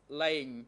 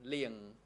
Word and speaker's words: Lang: The name of the person who was the chairman of Battalion 2, his name was Lang, but when I listened to the Khmer interpretation, the name became Liang.